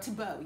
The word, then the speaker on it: Tebow: I think that's how you pronounce his surname. Tebow, yes. Tebow.